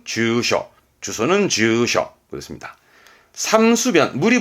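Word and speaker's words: 住所: 발음은 주셔.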